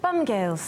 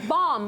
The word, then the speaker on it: Bomb Girls: what's your show and she's like bum G and she was like she was judging us and I was like bomb we're onom careful how you pronounce it but Bomb Girls